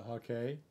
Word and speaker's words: hake: This is pronounced Hake. It's a Japanese brush. And a lot of people will call it, I've also called it the Hake once in a while, but really it's a Hake, Japanese.